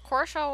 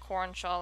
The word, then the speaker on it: Korshaw: Korshaw was the name of my first channel, and Hobbs was the only one to really pronounce it properly, so everybody else kept calling it Cornshaw or whatever.